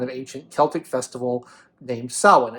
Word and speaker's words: Samhain: to this kind of ancient Celtic Festival named Sawan it's spelled Sam hate as you can see but it's not pronounced Sam hey and it's pronounced Salin and that's because the Irish language many Celtic